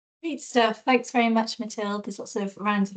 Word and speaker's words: Mathilde: How do you pronounce it, by the way? My name. Yes. Mathilde.